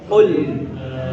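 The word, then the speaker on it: قُلْ: yang seperti ini ini artinya katakanlah kalau dia qul tapi kalau kita pakai kul pakai k biasa seperti pakai k seperti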